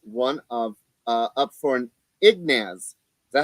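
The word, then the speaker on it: Ignatz: And he is one of up for an Ignaz.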